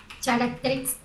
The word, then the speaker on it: characteristics: Decide the best and worst characteristics of each type of person. What is the pronunciation? Characteristics. Yes. C and H, guys, usually is like K.